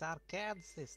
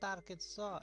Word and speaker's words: Arkansas: so emu it is arkansas not arkansas america explains explain i can't explain the french it's all the s is silent because it's french you're welcome today is